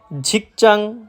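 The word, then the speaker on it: 직장: ঝিকচাং, ঝাগপচাং, সাওপচাং মানে কর্মস্থল। হ্যাঁ ভাই, আপনারা ঠিকই শুনতেছেন, আমি লাস্টে চাং উচ্চারিত করতেছি। আসলে সবগুলার লাস্টেই চাং উচ্চারিত হবে। কেউ যদি উচ্চারণ করে জাং, সেটা সম্পূর্ণরূপে ভুল।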